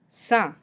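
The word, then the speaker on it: sans: isn't there Noah Noah son we don't pronounce the S at the end so we just pronounce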